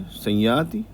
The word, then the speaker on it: संयाति: ये जो बिंदी है इसके बाद या आ रहा है। तो इसका जो प्रोनाउंसिएशन होगा वो क्या होगा? स या आधा बोला जाएगा और वो भी नेज़ल साउंड के साथ सया।